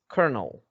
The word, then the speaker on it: colonel: kernel wow cornell that this is the only word in english that l is pronounced r um that's a new